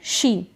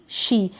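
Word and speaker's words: she: ही English में तो इसको हम पढ़ेंगे शी एस एच ई शी ये जो ई है ये बड़ी ई की मात्रा के रूप में पढ़ा जा रहा है तो एस एच को श पढ़ दिया तो बन गया शी यह है शॉप क्योंकि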